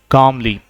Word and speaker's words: calm: डू you work कामली। डू you work कामली। यहाँ L silent है, CALM। क्या बोलेंगे? काम।